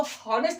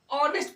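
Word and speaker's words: honest: यहां पे इसको होनेस्ट नहीं पढ़ते हैं। ऑनेस्ट पढ़ते हैं। आर से पढ़ते उच्चारण।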